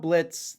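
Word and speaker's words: Blitzø: Just remember when you're talking about Blitz, the O is silent.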